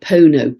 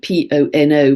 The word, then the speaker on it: Pono: It's actually spelled Pono, P-O-N-O, but somebody wrote to me and corrected my pronunciation because it's a sacred word, Pono, which means being